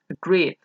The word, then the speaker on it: agreed: Así es, hacer un verbo que su sonido final es una vocal, agree, y, se pronunciará al final con una D. Agreed. Agree se convierte en agreed. Agreed, con D.